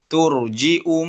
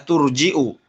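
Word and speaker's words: تُرْجِئُ: Turji'u man tasha'u minhunna wa tu'wi ilaika man tasha'. Ya, turji'u, bukan turji ya. Kalau hafaz turji ya.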